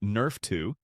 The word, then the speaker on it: NRF2: It activates a cellular pathway called NRF2, pronounced Nerf 2, which is essentially your body's master antioxidant and anti-inflammatory control system.